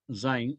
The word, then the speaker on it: Sein: La obra en alemán se llama Sein, que se escribe Sein, se pronuncia Sein, E-I, se pronuncia I, Sein, que significa ser,